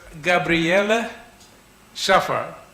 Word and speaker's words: Gabrielle Schaffer: Yesterday you told me how to pronounce. It's Gabrielle Schaffer, Professor Gabrielle Schaffer.